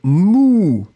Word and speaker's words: mou: Le deuxième mot, eh bien, c'est mou. Et le son, c'est vraiment ou, ou, ou, ou.